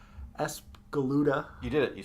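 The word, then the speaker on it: Espgaluda: we unveiled two for 601 and 602 it's as galuda you did it you said it right yeah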